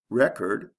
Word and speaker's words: record: first syllable object object record record is there a sound change yes with the first one there's a short e and the second one there's a long e record record contrast contrast